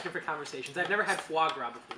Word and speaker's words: foie gras: Frog gras? Foie gras.